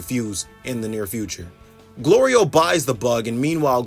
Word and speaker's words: Glorio: Glorio buys the bug, and meanwhile Goku's mispronouncing his name Goliro while I call him Glory Hole.